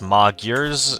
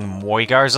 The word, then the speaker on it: Magyars: I believe it's Magyars, although I've been saying Moigars a lot.